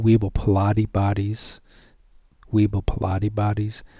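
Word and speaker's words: Weibel-Palade: and these are called weeble pilate bodies weibo pilate bodies not like these weebles of day and age but i mean it's pronounced the same as weebles and they're found everywhere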